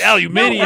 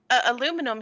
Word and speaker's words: aluminium: We're pronouncing it the proper way. Aluminium. That's how we're talking. We call it aluminum here because of a typo.